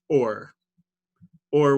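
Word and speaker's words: עור: Both of those words are pronounced or with an ayin and or with an aleph.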